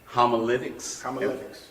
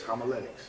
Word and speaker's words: homiletics: uh was in uh what they call uh homolytics is that am i pronouncing that correct yes homiletics and uh and and